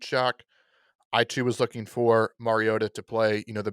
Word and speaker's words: Mariota: it is not marcus mariota is mariota it's not mario duh it is not mariota it is mariota mariado